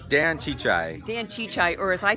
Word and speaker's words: Csicsai: TV show Hungarian and it's pronounced chichay it's actually easy to say just hard to spell oh my gosh everybody